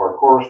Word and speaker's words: parkour: Mary Angeline suggested a parkour course or, What course? parkour, like, Parkour, oh, parkour. yeah. It's spelled park course, so I have been confused since I was a freshman in high school.